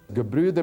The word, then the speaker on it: Gebrüder: Gebrüder Meisels, am I pronouncing that okay?